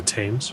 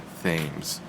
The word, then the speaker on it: Thames: red with molten lava it's called the tames I'd prefer to pronounce it themes all right if you